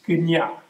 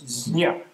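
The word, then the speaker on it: ज्ञ: In Sanskrit, which is a sort of primal Indo-European language, it's gnya, jnya, it's a J, it's even hard to pronounce, jnya.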